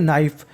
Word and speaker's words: knife: नाइफ, KNIFE, इसे पढ़ते हैं नाइफ। नाइफ का मतलब चाकू। अगर आपको कभी भी एन से पहले के लिखा मिल जाए तो हम लोग के का उच्चारण नहीं करते।